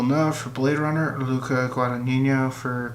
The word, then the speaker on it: Luca Guadagnino: huge upset Best Director Luca Guadagnino call me by your name I think I'm pronouncing that right that's how my Italian professor we pronounce it Bladerunner 249 denis villeneuve